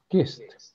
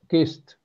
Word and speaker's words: kissed: pronounce it like T the Ed is pronounced like T so in other words